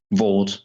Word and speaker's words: VAWT: Is it acceptable for me to say Vought and Hort, or do I need to use it as the acronym and say HAWT or VAWT? No, you pronounce it Vought or Hort.